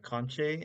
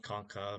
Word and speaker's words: concha: So you have the vomer, the conche, and I think it's pronounced concha by some people, but it's like conch shell, or like Spanish they say concha. It's sometimes called concha, but I say conche.